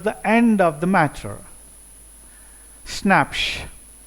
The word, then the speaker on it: Schnapps: Schnapps, pronounced schnapps. It is not snacks we have in English, this is a German word.